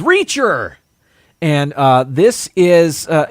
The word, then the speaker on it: Reacher: teacher uh at school teacher rhymes with reacher and uh this is